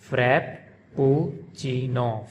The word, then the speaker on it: Frappuccino: pronounced by Americans Frappuccino, frap-puh-CHEE-noh, Frappuccino. And the Italians, they pronounce it Frappuccino, frap-puh-CHEE-noh. So the Italians, they pronounce double P, frap-puh-CHEE-noh, frappuccino. And the Americans, they pronounce it like single P, frappuccino.